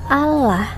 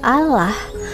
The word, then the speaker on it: Allah: diganti oleh LAI menjadi Allah, apakah itu udah benar? Allah loh ya, bukan Allah. Bahasa apa ya itu Allah? Kalau misalnya mau niru orang Islam, kok nggak sekalian aja nyebutnya Allah? Ya, di situ intinya Mbak